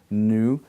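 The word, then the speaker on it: ν: also a nasal because when you say it, n, n, n, nu, I put my tongue in the alveolar ridge, n, n, and break away from the ridge, but also my breath goes up into my nasal passage, and therefore it's referred to as a nasal.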